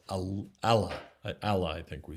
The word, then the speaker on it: Allah: a doubled l allah and emphasis on the second syllable right but i want to stress what allah is allah is not